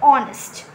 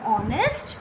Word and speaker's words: honest: We should go for a sound and H is silent over here, so it will be an honest man.